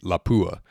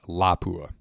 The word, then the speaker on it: Lapua: Now, for a long time, I referred to this cartridge as the 338 Lapua. However, I think it's actually pronounced 338 Lapua.